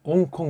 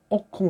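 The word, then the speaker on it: ὄγκον: 그러면서도 신약교회 성도답게 구별된 이 더 막바지 때 대세에 대해서 오그콘 이걸 옹콘 그러는데 옥콘 그래야 돼요. 옥콘 저면속 잘라야 되죠. 옥콘이 발음이 되니까 옹콘 한다고 엉터리 발음이죠.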